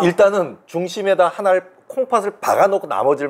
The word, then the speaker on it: Ihle: 일. 네, 예. 여기 스펠링 보니까 IHLE. 네. 맞아요. 일.